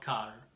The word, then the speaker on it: car: una macchina, a car, it's not car, senza l'R, ok? Si scrive car, ma si legge car, ok?